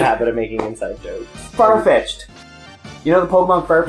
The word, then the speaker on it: Farfetch'd: He thinks it's called Fetchy D. And everyone's like, but it's spelled Far, F-A-R, Fetch, apostrophe D, so it's Farfetch'd. Like, that is a far-fetched comment.